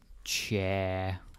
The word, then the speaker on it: ja: So this next one is cha. I'm going to put a few more A's, sort of unofficial spelling, but just to make a point on how it's pronounced.